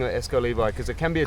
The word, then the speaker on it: Exco Levi: It's just a spelling different, but they pronounce the same way. So, if a person say E X C O S is L E V I is Esco Levi.